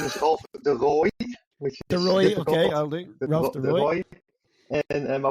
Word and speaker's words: de Rooij: good me how did I go with those pronunciations M well good enough my name is De Roy which isy okay and my wife is actually